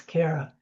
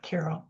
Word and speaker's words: Carol: saying my name and often people hear me say my name is Carara instead of Carol.